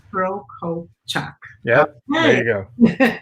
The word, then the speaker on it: Prokopchuk: I mean, Prokopchuk, so 3 syllables. Prokopchuk.